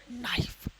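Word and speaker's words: knife: एन एन के पहले एन के पहले अगर आपका के हो क्या होगा के मान लो ये एन है और एन से पहले के हो तो हमेशा के क्या क्या रहता है आपका के साइलेंट रहता है एन से पहले के हमेशा क्या रहता है साइलेंट तो इसको पढ़ेंगे नो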